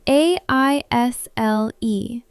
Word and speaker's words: aisle: But, what is an aisle? How do you spell it? It is spelled a i s l e, but the s is silent.